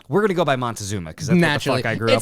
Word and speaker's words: Montezuma: There are so many variations of how people say his name. They go from Moctezuma to Matacuzoma or Matukzoma. And there's a few other variations. But the most scholars use the variation Moctecoshoma. Moctezuma.